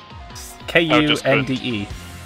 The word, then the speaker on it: Kunde: It's Kund. Kund. Customer Kund? K-U-N-D-E. Der Kund. Okay. Kunde. Yes. There's no silent letters in German, to my knowledge.